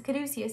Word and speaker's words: caduceus: know the word now let's give snaps for aso because all the people in the comments section that tell me every time it's a caduceus it's a caduceus i